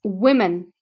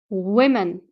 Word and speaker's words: women: form of woman but you can see that the O here is actually pronounced I you do I so it's women women uh another thing that